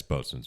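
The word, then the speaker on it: boatswain: don't have to Wayne you don't have to pronounce the W just as a you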